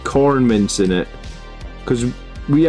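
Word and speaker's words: Quorn: make like pasta or something and put like corn mints in it because we actually eat quite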